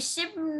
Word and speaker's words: ship: Thế là cùng là sheep à? Thế tàu thủy đọc giống cừu. A ship, đây là tàu đúng không?